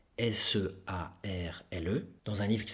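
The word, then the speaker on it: Searle: qui s'appelle John or c'est pour prononcer à l'anglaise le r sœur sear le dans un livre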